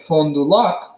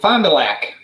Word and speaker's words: Fond du Lac: So, but the funny part is that they now are pronounced with a Wisconsin way.